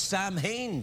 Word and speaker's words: Samhain: darkness oh yes it's Samhain today it is good old Sam Sammy yeah yeah it's pronounced sellin that call the Samhain